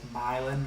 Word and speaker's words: Milan: milan it's spelled my it's spelled like milan italy but it's pronounced like milan like you're from west virginia like um like there's a y in it my email is.milan